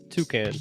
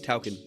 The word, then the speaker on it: Toucan: It's called Toucan. That's how you say it, like the bird. Taukin.